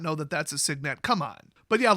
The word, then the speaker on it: Signet: Next up, Arcane Cyanet. That's right, guys. It's actually pronounced Cyanet. Okay, I'm not going to go for that joke twice. It's Signet, as in the base word for signature.